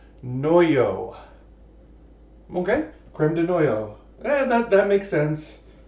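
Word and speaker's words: crème de noyaux: um so over says according to Mickey it's pronounced noyo okay creme de noyo and that that makes sense I I think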